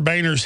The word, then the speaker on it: Boehner: I mean, John, well, it is pronounced Boner. He tells us to say Boehner.